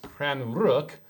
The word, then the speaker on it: Stjärnrök: what google says it's spelled s-t-j-a-r-n-o-r-k but it's pronounced cran rook uh which is um was it star smoke